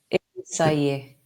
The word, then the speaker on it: Innsæi: I just love the way you pronounce the word "say." Can you say it once more? Innsæi.